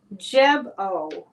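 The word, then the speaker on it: Gebo: here tonight nice to see you okay it's pronounced jebo jebo so that's a it's kind of hard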